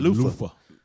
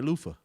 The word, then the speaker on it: Luther: Did you say Luther with an F? How you supposed to say it? Lufa. He said Luther with an F. That's how they say it when you live on Martin Luther King Avenue. You know what I'm saying? Luther. I know that. Everybody, but you in the hood, you say Lufa.